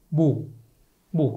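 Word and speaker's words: mho: 거꾸로 쓰면 뭐가 돼요? M, H, O가 되겠죠. 이거를 거꾸로 쓰면 스펠링을 그럼 뭐예요? 모. 그죠? 그래서 이거를 어떻게 읽는 거예요? 이거를 모라고 있습니다.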